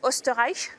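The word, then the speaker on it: Österreich: parlé oui voilà on on prononce osterich c'est ça voilà dont on a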